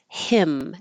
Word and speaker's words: hymn: Hymn, as in the song, is the same sound as him, the pronoun.